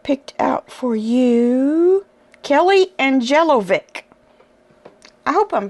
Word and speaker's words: Angelovic: out for you Kelly angelovic I hope I'm pronouncing that right some of these names are tricky Kelly angelovic like Angel o v i c okay and she has